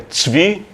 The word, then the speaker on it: Zwi: E eu recebi esse nome, Zui, a pronúncia em Israel é Tzvi, quer dizer, não tem o equivalente fonético em português, ficou Zui mesmo.